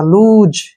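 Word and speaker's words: loose: एस ई का उच्चारण एस के तुरंत बाद वावल आया तो ज के रूप में होगा लूज क्या पढ़ेंगे इसको लूज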